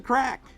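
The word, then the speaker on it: craic: hey there how's the crack the crack is spelled c-r-a-i-c it's an Irish word and it actually means fun so over in Ireland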